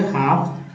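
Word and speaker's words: half: इससे बहुत मिल है एफ के पहले एल है तो साइलेंट एल हो गया हाफ काफ एल साइलेंट य भी है ब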